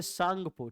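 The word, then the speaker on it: Tsangpo: आई से Indus, T से सांगपो, TSANPO, T silent कर देते हैं, कहते हैं सांगपो, ठीक है ना, लेकिन शुरू होगा TSANPO, सांगपो।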